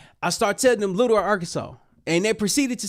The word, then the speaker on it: Arkansas: It's not AR or Kansas. It's literally Arkansas."